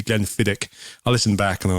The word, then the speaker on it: Glenfiddich: I said Glenfiddich as well last week when it's meant to be Glenfiddich.